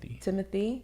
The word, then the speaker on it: Timothée: Is it Timothée or Timothy? Timothy. Even though he has an accent over one of the E's. I've never heard it pronounced Timothée.